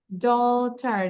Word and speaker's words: daughter: ডটার, GH উচ্চারণ করবো না।